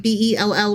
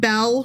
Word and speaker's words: Bel: to spell it, and you thought it was like a girl's name, like Belle. Right. Or something like that. Yeah. But it's more like the god Bel, so think Bel.